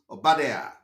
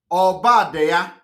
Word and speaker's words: Obadiah: For those who are pronouncing it Obadiah. No, it's not Obadiah. It is called Obadiah.